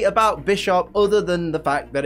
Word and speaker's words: Bisharp: incorrectly I normally say by sharp and I know it's bisharp because it's based on bishop and sharp but it can be construed in such a way that by sharp is also correct because